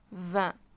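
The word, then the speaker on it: vingt: 20. خدت بالكم ان انا في حرفين ما نطقوش. الحرفين دول مش هيتنطقوا. الفي الجي قصدي والتي مش هيتنطقوا.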